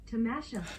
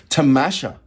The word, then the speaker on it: Tamasha: no am I hold my P am I pronouncing that right me go into the uh translator tamasha tamasha there you go so tamasha with Mustafa zahid